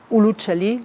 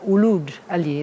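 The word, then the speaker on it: Uluç Ali: Uluc Ali, Uc Ali, Luc Ali, Oc Ali, Uluc Ali, among the many others. These were all mispronunciation of Uluj Ali, that meant Ali, the Christian renegade.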